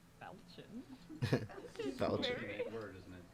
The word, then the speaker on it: falchion: Falchion. Great word, isn't it? It's pronounced falchion.